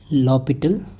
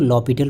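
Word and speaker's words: L'Hôpital: तो first method is using लॉपिटल। एल हॉस्पिटल को हम लोग लॉपिटल पढ़ते हैं। यहाँ पे H साइलेंट होता है।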